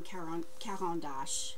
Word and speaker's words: Caran d'Ache: I used Neocolors from Caran d'Ache is how you say it.